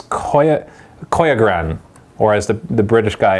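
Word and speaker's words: Koiogran: It's Koyagran, or as the British guy in the video said, the Koyagran, or whatever. So it's Koyagran or Koyagran. That is the correct way to say it.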